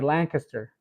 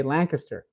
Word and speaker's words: Lancaster: talking about that uh I would say Lancaster and I I do recall somebody mentioning in the comments saying oh you're not pronouncing it right um we say Lancaster and I and I you know I go back and forth I say Lancaster and then or Lancaster uh that's the way I used to pronounce it